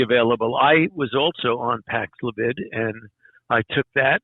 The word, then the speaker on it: Paxlovid: I forgot how to pronounce it. Paxlovid. Yes. Yeah. Is that available? Antiviral. Go ahead. I'm sorry. Yeah, that's widely available. I was also on Paxlavid, and I took that.